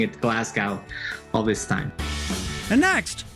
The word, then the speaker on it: Glasgow: so have some of our presidents the correct pronunciation of the city in scotland is glasgow hello glasgow the city hosted last year's united nations climate